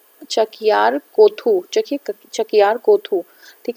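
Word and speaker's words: Chakyar Koothu: तो देख लीजिएगा इसका प्रोनाउंसिएशन. इसमें लिखा है चकियार कोथू.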